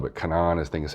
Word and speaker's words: Canaan: And not just Bitmain and Whatsminer, but Canaan is how it's spelled, but Canaan I think is how they pronounce it, and eBang, and is that Avalon miner or is that Canaan?